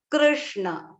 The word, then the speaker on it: Krishna: It comes, the r should come from within your mouth. Krishna.